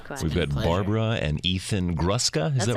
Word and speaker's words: Gruska: you you too we've had Barbara and Ethan gruska is that right yes thank you very much